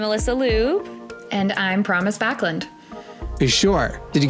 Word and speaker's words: Backlund: She said Backlund, but it's pronounced Backlund.